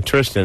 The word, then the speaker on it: Tristan: I like Tristan. I do. Yeah, it rhymes with fistin.